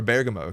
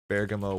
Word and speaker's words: Bergamo: in bamo this weekend or Bergamo excuse me I think I learned how to say it Bergamo weather network uh 25